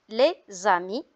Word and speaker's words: les amis: S devant une voyelle, on fait la liaison, on dit les amis.